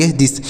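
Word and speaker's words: this: थ लिखते हैं लेकिन यहां पर हम टी एच से थ नहीं लिखेंगे यहां पर क्या लिखेंगे सर यहां पर द लिखेंगे टी एस से थ लिखेंगे थ नहीं लिखेंगे यहां पर द लिखेंगे कैसे देखिए तो टी ए से द लिखेंगे आई से छोटी की मात्रा को लिखेंगे एस से स तो य दिस हो गया टी एच आई दिस इसे थिस नहीं पढ़ेंगे दिस पढ़ा जाएगा दिस मतलब होता है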